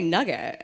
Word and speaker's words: nougat: and Americans, so yeah, some people even in America say nugget, and they didn't even know what I was talking about when I said nougat.